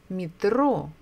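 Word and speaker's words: метро: much International words is mitro Metro meet row so we stress the second syllable as I remember in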